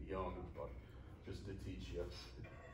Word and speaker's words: Jung: here's how he describes them so here's uh jung's description by the way pronounced jung i will just keep saying young but just to teach yes so here's his